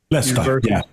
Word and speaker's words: Leicester: And there is a professor at, I think it's, how do you pronounce it, Mark? Leicester? Leicester, Yeah, University of Leicester.